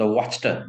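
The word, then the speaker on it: Wachter: The black Smith, वॉच, उसका हम लोग प्रोनाउंस करेंगे वॉचर, ठीक है, द वॉचटर, वॉचटर प्रोनाउंस करेंगे, थोड़ा सा ये थोड़ा फ्रेंच है, वॉचटर, ठीक है।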